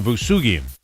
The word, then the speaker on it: Vousoughian: Farzin Vousoughian.